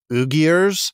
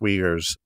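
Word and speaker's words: Uyghurs: RS in in English so it looks like ugar but it's pronounced weers and these these ethnic wegers like I said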